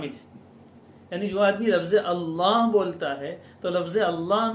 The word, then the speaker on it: اللہ: اور زبان اس لفظ کے تلفظ میں منہ بھر کر تلفظ کرے، اللہ اللہ، اس لفظ کو